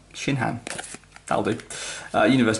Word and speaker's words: Shinhan: Multiform Tien Shen. I mispronounced that. Shinhan.